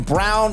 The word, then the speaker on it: Braun: help from everyone including Christian Brown even though it is spelled Braun and Jamal Murray was